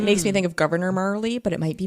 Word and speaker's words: Marle: I've always called her Marley, because it makes me think of Governor Marley, but it might be Marl.